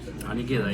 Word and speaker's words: Gaydai: I'm here with Gaydai. Anigeda, yeah.